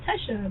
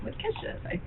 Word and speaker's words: Tesha: don't my first name I'm always like oh Tesha they're like Kesha so I just put